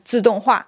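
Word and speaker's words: 自动化: The coolest one is automation is pronounced as Jidoka in Japanese, but when you read this Japanese kanji as Mandarin, it's pronounced as Zidonghua, which sounds quite similar.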